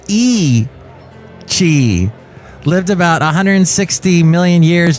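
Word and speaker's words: Yi qi: The dinosaur, named Yai Qi, meaning strange wing in Mandarin, and pronounced E Qi, lived about 160 million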